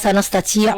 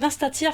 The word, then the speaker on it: Nastatii: Nastatia on a pu.